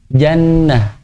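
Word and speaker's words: جنة: Misalnya ini akhir ayat diwakafkan, bacanya jannata atau jannah? Jannah. Antum maklumnya pasti bacanya jannah.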